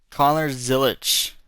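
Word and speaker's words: Connor Zilisch: Connor Zilic.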